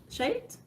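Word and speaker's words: Scheat: are my forte personally i think you pronounce it as sh shape shaped s-c-h-a-e-t it sits in the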